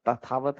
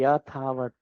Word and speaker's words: यथावत: तब यथावत, तथावत नहीं, अथावत नहीं, यथावत। हाँ, सही प्रोनाउंसिएट किए, यथावत मीन्स ज्यों का त्यों, यथावत रहते हैं तब रैंप घाटी का निर्माण होता है।